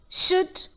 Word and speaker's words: should: as talk, half, come, should, could, would. That is, though we see the letter L in these words, there is no L sound in these words. The L sound is silent.